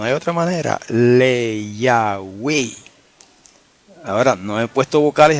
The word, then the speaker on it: le Yahweh: Si vamos a pronunciar el tetragramaton con ese prefijo, le, tendría que pronunciarse le Yahweh, hermano. No hay otra manera. Le Yahweh.